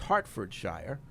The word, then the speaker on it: Hertfordshire: anthony writes in in hertfordshire pronounced hartfordshire england wanted to say